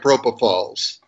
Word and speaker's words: propofol: a mnemonic for you remember the pronounciation nobody falls like propofol how's that nice you